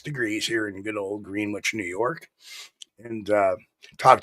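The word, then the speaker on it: Greenwich: here in good old green Wich New York and uh talk to an English friend of mine saying why the hell don't you call it greenich now that's Conneticut we're green Wich we're New York we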